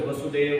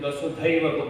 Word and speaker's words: Vasudhaiva: It's wrongly pronounced as Vasudeva, Vasudeva Kutumbakam. It is Vasudhaiva, Vasudha Eva Kutumbakam.